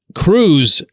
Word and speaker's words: Crews: Now, Cruz, and by the way, that's spelled Crews, so you don't get him confused with an O'Neill Cruz or whatever.